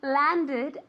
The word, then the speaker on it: landed: Yes, Steve's plane landed at 10 p.m. Landed, okay? An extra syllable.